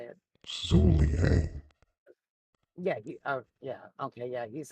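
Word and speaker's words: Zhuge Liang: No, Zuliang. Zugliang or however you say it. Zuliang.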